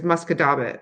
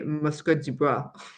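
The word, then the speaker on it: Musquodoboit: So like there's Muscadabit, right? Whereas like with my French, I would say Muscat du Bois. But no, that's not how you say it.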